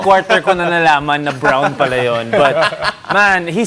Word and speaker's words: Braun: should pronounce it. Third quarter ko na nalaman na Brown pala yun.